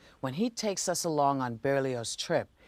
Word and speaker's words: Berlioz: That's Berlioz, the Z is pronounced.